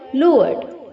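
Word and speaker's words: lure: launching lower lower lord इसे हम दो तरीके से प्रोनाउंस करते हैं बच्चों लर भी बोल सकते हैं और लअक्टूटे हूं लोअर का प्रोनाउंस बच्चों हम लर भी करते हैं और लोअर भी करते हैं एल के आगे जो यू है उसे हम डबल ओ की तरह प्रोनाउंस करते हैं लुर ओके और लर का भी प्रोनाउंस करते हैं एल यू आर ई तो दोनों ही प्रोनंसिएशन करेक्ट है आपको जिसमें कंफर्टेबल हो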